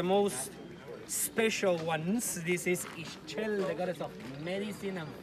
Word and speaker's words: Ixchel: This is Ixchel, the goddess of medicine and fertility. Every time you see the letter X and that word belongs